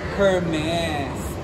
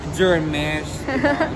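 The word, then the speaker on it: Hermès: So sorry naman kasi nga, hindi kasi ako rich kid, so hindi ko alam na Hermes pala siya. Silent H pala siya. Pero yung iba kasi sabi nila Hermes or Germesh.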